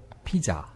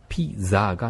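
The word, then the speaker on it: pizza: 뭐냐면 피자. 어. P-I-Z-Z-A가 네. 돼 있죠. 네. 그런데 근데 거기에 Z는 Z 발음이 아니고 T-S 발음이에요. 그래서 아.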